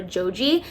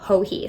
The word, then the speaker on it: Joji: I've been calling her Joji, but her name is actually Hohee. So this is the Botanist Shawl by Hohee Locatelli.